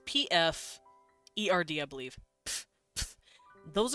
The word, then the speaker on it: Pferd: It's Pferd. Pferd. You put F and P together. Pf. So it's P-F-E-R-D, I believe.